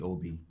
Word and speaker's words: Obi: Frank is the only guy who actually calls me Obi.